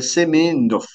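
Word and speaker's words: Semenov: s'appelle notamment Sergey seionov alors c'est pas tout à fait comme ça que ça s'écrit hein va falloir que je change ça donc Sergey semonov parce qu'il y a pas de i c'est un un un e d'accord euh et d'ailleurs c'est pas co c'est c'est seménov d'accord voilà donc Pavel philippov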